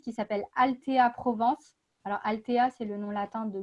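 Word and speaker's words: Althea: Alors, Altea, c'est le nom latin de guimauve, donc ça s'écrit A-L-T-H-E-A.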